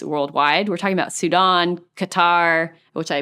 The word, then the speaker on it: Qatar: We're talking about Sudan, Qatar, which I mispronounce all the time. Qatar.